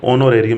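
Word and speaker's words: honorarium: तो वो पेमेंट कौन सी है, ऑनोरेरियम, या उसको हम एक्ट साइलेंट है ऑनोरेरियम भी बोल देते हैं।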